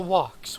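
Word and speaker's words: Woc: And then there's the walks, which are little cute cow thingies. They're this world's cow. Their name is spelled W-O-C.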